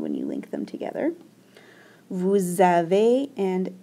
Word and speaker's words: vous avez: This EZ makes an A sound. Okay, we don't hear the Z at all.